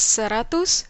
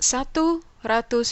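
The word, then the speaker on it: seratus: say it in indonesian it's serratus ribu remember it's not satu ratus ribu here's a little challenge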